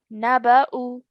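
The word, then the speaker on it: نَبَأُ: We will only recite the hamza, not the waw. Excellent. Good. So how would we say it then? Excellent. So we would pronounce the hamza with the dhamma.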